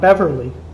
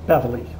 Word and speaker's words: Beverly: And it's pronounced Beverly, by the way, not Beverly, Beverly.